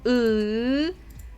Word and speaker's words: ы: So once again, this letter is U. It sounds the same as E, but you have to push your tongue back.